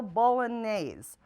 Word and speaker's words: bolognese: a recipe called whitetail bolognese that's pronounced ball on a's anyway with all the